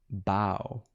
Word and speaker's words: boughs: How do you say this? Bow. Nissa of Shadow Bow.